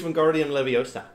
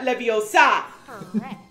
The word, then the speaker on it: Wingardium Leviosa: for a short time it's Wingardium Leviosa not Leviosa oh there's a voice